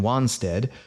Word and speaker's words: Wanstead: matter that much because the first vowels in for example wanston and wanstead are both pronounced ah in the transition from